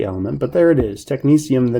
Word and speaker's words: technetium: kind of funky and hard to say it's pronounced technetium technetium is one of the first sort of synthetic